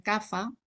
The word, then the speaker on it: Kapha: Y Kapha, que se escribe PH y algunos pronuncian Kapha, pero estudiando sánscrito se debería pronunciar más o menos Kapha, consta de los elementos tierra y agua.